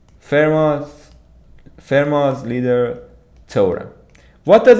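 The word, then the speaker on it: Fermat: FMA FMA little torum the T at the end of it is silent fairos fairos leader toor what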